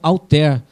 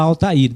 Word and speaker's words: Altair: foi chamado de alir algumas pessoas falam alter né mas a pronúncia tanto faz aqui no Brasil a gente vai falar Altair Depois tem um vídeo